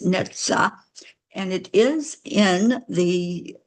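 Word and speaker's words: Netzach: wasn't sure but I did look up the pronunciation of this word and it's neta and it is in the um going to just read you what I found about it.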